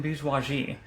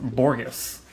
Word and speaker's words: Bourgeois: Anyways, welcome to the Drunken Bourgeois, not pronounced Borges.